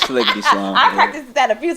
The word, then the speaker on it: Sliggity Slime: It's Sliggity Slime.